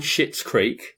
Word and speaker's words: Schitt's Creek: Now, I am not swearing when I say this, okay? Yeah. It's called Schitt's Creek. I don't know if you heard about it. It's spelled Schitts.